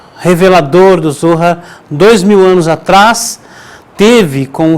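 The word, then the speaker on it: זוהר: aqui lendo o Zohar, o Zohar, que é a forma correta de ser pronunciada a palavra, Zohar, que significa radiância, esplendor,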